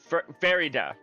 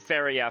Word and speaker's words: Farida: I mean, so far she's introduced herself as uh Faria. Farida, not not Faria.